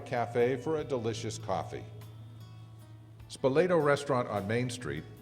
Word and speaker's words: Spoleto: Spoleto Restaurant on Main Street, pronounced Spoleto by many, is a favorite among visitors and locals.